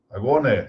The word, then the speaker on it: agone: A única coisa que ocorre aí que é preciso tomar cuidado é que o acento para a pronúncia muda de sílaba. Então, em vez de ago, agone. Em vez de, como está aqui na expressão, dabis, dabisne. Ou seja, muda o acento, vai para a sílaba sequente em que havia o acento original.